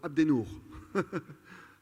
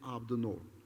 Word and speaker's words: Abdennour: name my name is I pronounce it Arabic abnormal I am called Abdi new and sometimes Abe but my name is AB the norm what does that mean